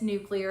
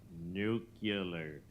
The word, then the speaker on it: nuclear: I'm a PhD student at the University of Florida studying nuclear materials research and I'm also commonly known as Miss Nuclear Energy on Tik Tok.